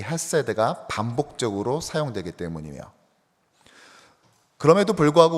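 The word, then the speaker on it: חֶסֶד: 근데 이왕 하는 김에 우리 원어 발음으로 좀 더 이걸 후음이 있어가지고 가래 끓는 듯이 내야 돼요. 그래서 헤세드 이렇게 하셔야 되거든요. 다시 한번 헤세드.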